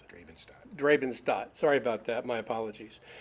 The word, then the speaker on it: Drabenstadt: How do you pronounce it? Drabenstadt.